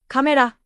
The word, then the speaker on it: カメラ: Katakana words are pronounced evenly, with no strong or weak syllables. For example, camera, terebi, hotel.